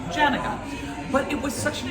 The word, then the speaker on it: Janega: And we've pronounced our name Janega for quite a long time. Yeah. And so I, growing up, always said the name Janega.